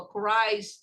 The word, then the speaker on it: Christ: Vem aqui, ó, Christ, Jesus Christ, você pronuncia assim, ó.